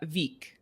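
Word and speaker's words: Vík: oh thank you well it's this one is uh veek yes there you go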